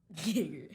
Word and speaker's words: Geiger: Geiger.